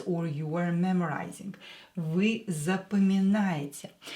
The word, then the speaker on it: запоминает: When O is not stressed, pronounce it as A.